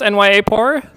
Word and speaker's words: NYAAPOR: So starting with how to pronounce NYAAPOR.